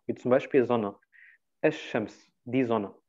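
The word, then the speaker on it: الشمس: Also der L wird nicht ausgesprochen. Wie zum Beispiel Sonne. Es-Shams, die Sonne. Es-Shams. Okay? Man sagt nicht El-Shams.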